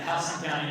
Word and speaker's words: Houston: house so for that matter I believe that house county is the correct way to pronounce it and so anybody has connection to